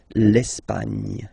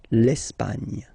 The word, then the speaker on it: Espagne: Okay, don't insist on the final E because basically it's not pronounced. L'Espagne. Gna, gna, gna. L'Espagne.